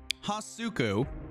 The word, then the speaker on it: Hasuku: pronounce it I will is it huku or is it hasuku how you say it oh no oh hasuku gotcha I'm not watching that